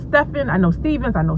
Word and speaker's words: Stephan: for you by stephan stephen stephan i can't even say his name right it's stefan i know stevens i